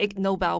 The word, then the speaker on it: Ig Nobel: introduce y'all to the egg Nobel Prize it's spelled IG and the Nobel Prize and of course it's a pun to the actual Nobel Prize and the word ignoble so for those of